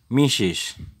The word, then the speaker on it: Mrs: Ini MRS ini dibaca Mrs. Bukan Mrs. Seres ya, tapi Mrs. Oke.